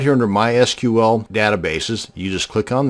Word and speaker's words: MySQL: to create a mysql database and yes it's pronounced mysql not mysql so the next time you had